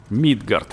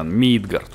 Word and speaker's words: Мидгард: Мидгард, ребята, Мидгард, ударение на ми.